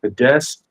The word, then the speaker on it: Fidesz: It's crazy because, like, okay, like many politicians, when he was younger, he actually founded, I think it's pronounced Fidesz, The the Fidesz, yeah.